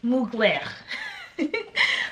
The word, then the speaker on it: Mugler: So it is Mugler.